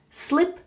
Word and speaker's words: slip: when going to sleep the e sound and I sound in English can be really difficult so slip and sleep are different sounds slip slip slip sleep sleep sleep good wondering about a